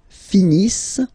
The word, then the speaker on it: finissent: Ils finissent. So remember, as usual, when we've got the verbs E and T not pronounced.